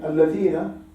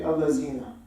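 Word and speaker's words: الذين: I mean, alladhina, people say allazina.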